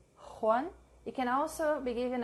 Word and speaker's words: Juan: J is the English H. Juan. It can also be given a slightly guttural sound. Juan, ojo, mujer.